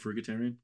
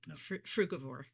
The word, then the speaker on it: frugivore: Fugitarian. Frugavore.